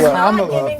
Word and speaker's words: Kamala: It's She's Kamala, first of all. It's not Kamala. It's Kamala. It's Kamala's. Kamala. You had it right. You almost got it. I will You say almost Kamala's did it.